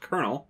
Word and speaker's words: Colonel: Actually, it's pronounced Colonel.